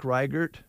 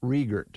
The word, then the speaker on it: Riegert: do they sure wonderful it looks like rygert but it's pronounced regert all right uh 75